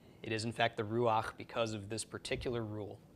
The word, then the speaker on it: ruach: So this is not pronounced rucha, but instead pronounced ruach.